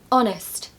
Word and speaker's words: honest: a receipt number two honest not honest I have actually heard people say honest I mean there's an H so why not but it's actually silent same goes with honor